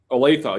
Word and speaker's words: Olathe: I mean, I visited Trans Am, which is like a 500 truck fleet in Olathe. I don't know if I'm pronouncing it correctly. Kansas. I think it's Olathe. Olathe, yeah, there you go.